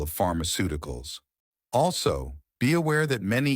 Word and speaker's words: pharmaceuticals: a F sound and that the letter C can have a SS sound, often before the letter II or E, or a K sound. Also, if you know the word pharmacy, you already know how to say the first half of pharmaceuticals.